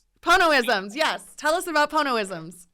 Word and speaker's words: Ponoisms: Is that I'm going to say it wrong, the Ponoisms? Ponoisms, yes.